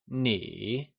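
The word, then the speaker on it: 你: Nī Nǐ Nì Solution What is the correct tone of you in you good? Nī Nì Nǐ So remember!You = Nǐ is pronounced using a falling rising tone (3rd) Pick the right option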